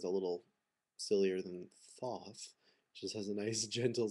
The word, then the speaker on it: Thoth: the tot tarot and it is pronounced taut that god is taught um i know it sounds a little sillier than thoth just has a nice